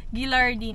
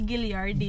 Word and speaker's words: Gilliardine: Like he said, Gilardine. It's supposed to be Gilliardine.